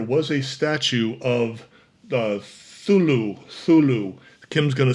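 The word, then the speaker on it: Cthulhu: Now, the builder said that there was a statue of the Thulu. Thulu. Kim's gonna spell it out for me.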